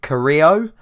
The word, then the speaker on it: Carrillo: swansea game that said we need to pronounce it Carrillo and he is from Peru so I am going